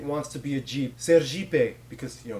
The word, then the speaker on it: Sergipe: Sergipe, because, you know, in Portuguese, ser means be, and Jeep is how you pronounce it.